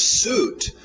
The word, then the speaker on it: suit: Suit. Lembra daquele UI, som de U, fruit, juice, ok? Então, mais uma vez, só o som de U, suit.